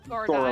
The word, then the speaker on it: Gorodai: this- Gorodai. Gorodai. Gorodai? Right here. Gorda. Gorodai. Think Goro from Zelda, and then die.